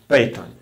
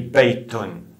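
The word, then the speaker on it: بيت: Let's take hadha baytun. In Arabic, we add tanween at the end of indefinite words. So we say baytun with this extra n sound at the end to indicate indefinity.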